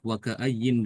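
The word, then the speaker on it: وكأين: Dibaca kalau waqaf waka'ayyin dengan nun.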